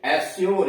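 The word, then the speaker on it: assure: जैसे अस्योर, A double S यू आर ए, एस्योर, यहां यू का उच्चारण यो हो गया।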